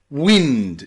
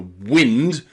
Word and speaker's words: wind: you want to say so if you want to talk about the moving air the wind you use that I that short I sound but if you want